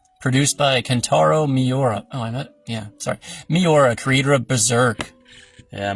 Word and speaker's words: Miura: Is it Ikiura? Produced by Kentaro Miura.